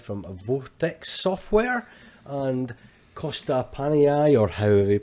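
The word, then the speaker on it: Panayi: So we're going to go to the year 1985 from Vortex Software and Costa Panai, or however you pronounce it. Panahi.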